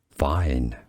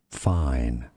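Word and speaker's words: Fein: This is indeed a brand name for tools, also a song by Travis Scott, and a surname, German pronunciation, fine. In English, how to pronounce fine.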